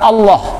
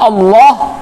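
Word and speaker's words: الله: Kemudian Ketika mengucapkan Allah, lidah kita itu menopang bagian atas di pangkal gigi bagian atas ditopang. Allah, ya, harus ditopang. Kalau tidak, nggak keluar. Banyak orang membaca nama Allah itu dengan sebutan Allah. Nah, itu salah, karena lidahnya tidak menopang bagian atas. Nah, salah penyebutan nama Allahnya. Nah, kata Allah itu merupakan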